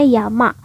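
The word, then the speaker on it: 山: Misalnya, ini kanji gunung sendiri dibacanya yama.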